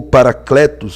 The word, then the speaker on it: Parácleto: A palavra parácleto e a palavra logia. Olha aí, ó. Paracletologia. Parácleto, ou paracletos, como alguns querem pronunciar, significa consolador, conselheiro, advogado.